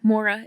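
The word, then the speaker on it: Maura: Um, so Mora is spelled M A U R A.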